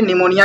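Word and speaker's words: pneumonia: निमोनिया या फिर पेनुमिया भी इसे कहते हैं, ये साइलेंट है, निमोनिया ही कहते हैं।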